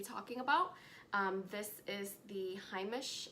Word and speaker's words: Heimish: This is the Heimish, I believe it's pronounced Heimish All Clean Balm.